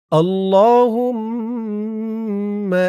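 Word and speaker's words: اللّٰهُمَّ: আল্লাহ বললে আল্লাহ শব্দের লামের উচ্চারণটা শুদ্ধ হয় না। বলতে হবে আল্লাহুম্মা।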